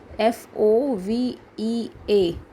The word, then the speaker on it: fovea: आपका लिखा होगा लोविया, लेकिन एक्चुअल में इसका स्पेलिंग है FOVEA.